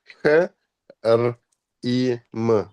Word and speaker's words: Hrim: H, R, I, M. Hrim. Yeah, half R. R is half, Mm. and half you can't pronounce until you combine with a vowel.